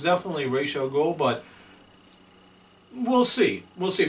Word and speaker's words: Ra's al Ghul: So it's definitely Ra's al Ghul, but we'll see.